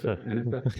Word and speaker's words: Enefer: Will Enefer, is pronounced it correct? Enefer, even though I asked you before.